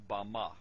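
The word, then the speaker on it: במה: in the Strong's Hebrew dictionary and it is pronounced Bama Bama is most commonly used to refer to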